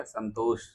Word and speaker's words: संतोष: मेरा सही उच्चारण कोई लेगा तो क्या लेगा, संतोष। हम्म जो लास्ट वाला शाह है वो जोर देकर ये उच्चारण होता है।